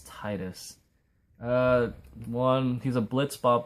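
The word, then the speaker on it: Tidus: favorite final fantasy game titus i think that's how you say his name people say titus but i think it's titus uh one he's a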